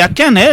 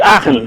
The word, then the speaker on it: Aachen: C'est Aken, la commune, si j'ai bien prononcé, c'est pas. Oui, à Aachen, on dit Aachen.